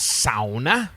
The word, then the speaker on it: sauna: Everywhere else, they pronounce all of the letters in the word S-A-U, sao, N-A.